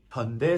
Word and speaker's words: 현: 현 rhymes with sun, 현 rhymes with fun 이렇게 얘기해 주는 거죠.